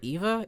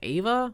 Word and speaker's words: Ava: what do you mean wait is it not Eva it's Ava what the bro have I been just mispronouncing why didn't y'all tell